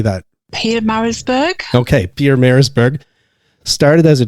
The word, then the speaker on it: Pietermaritzburg: Pietermaritzburg.